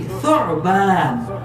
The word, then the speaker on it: ثعبان: মানে জন্ম ثعبان عين لابد من النطق الصحيح ثعبان لا ثعبان احسنت شاف عبر جوازات